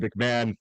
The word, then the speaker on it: McMahon: How'd I pronounce it? Am I doing good with that? No, you're good. You're good. McMahon, like Ed, like Vince, like Jim, only I'm